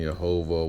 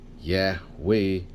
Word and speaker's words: Yahweh: The pronunciation Yehovah was unknown until 1520. Okay. The Yeho of compound and the noun proper and the contracted form Yah all favor Yahweh. Many recent scholars explain Yahweh as Hiphil of Hey